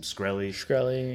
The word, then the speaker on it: Shkreli: I can't pronounce his last name. Shkreli.